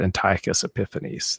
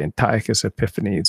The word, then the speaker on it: Antiochus Epiphanes: the mad antiochus epiphanes my dad was always talking about antiochus epiphanes that's how you say it in english so i grew up as a little boy i'd say antiochus epiphanes abomination of desolation you